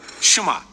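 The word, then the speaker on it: שמע: é ouvir ou escutar quem hebraico é pronunciada chamar Daí vem o nome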